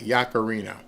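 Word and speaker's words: Yaccarino: I I want to pronounce her name correctly. Yakarino.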